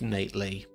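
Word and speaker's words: Knate Lee: who co-wrote it with Nate Lee I'm assuming the K is silent anyway it stars blue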